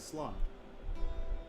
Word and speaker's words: Slán: One dialect will pronounce it as Slán.